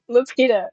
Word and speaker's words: Lapida: Lapida.